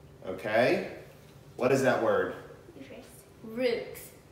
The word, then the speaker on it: roux: Roots. Rocks. The correct pronunciation is root.